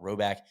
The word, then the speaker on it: Rhoback: So the Roback crew necks, I think, are a favorite of the squad too.